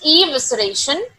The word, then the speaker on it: evisceration: scared the predators evisceration actually the pronunciation is evisceration to where they just